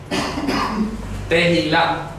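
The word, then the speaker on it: תהילה: Tehilá, ¿ok? Se pronuncia así, tehilá, con T-E-H-I-L-A-H, tehilá.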